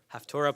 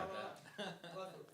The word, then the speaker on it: Haftarah: We mispronounce it, Haftorah plethora. Haftorah plethora.